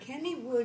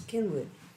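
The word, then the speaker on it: Cynwyd: I wonder Sue dear Kennywood is not in Pennsylvania it's c y n w y d that's how you pronounce kinwood or you missing anding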